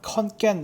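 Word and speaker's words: ขอนแก่น: 대해서 알아보도록 하겠습니다 어 여기 영어로는 컨 깬 이라고 하지만 태국인들의 발음은 콘 게임에 가까운 것 같아요 그래서 태국인 엔진 발음을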